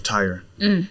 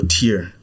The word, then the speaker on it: Tyre: of the king of tyre right or tear depending on how you want to pronounce it but verse 13 says